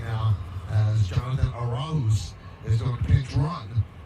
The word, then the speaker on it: Arauz: It's Arauz. It's not Arauz.